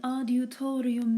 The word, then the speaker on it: adiutorium: Deus in adiutorium meum intende, Domine adiuvandum me festina. Let's break it down and try each syllable. De, us, in, ad, u, to, ri, me, in, ten, de.